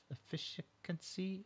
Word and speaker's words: efficacy: I want to say efficiency but I no e f i c a c y. Efficacy. Efficacy. Efficacy.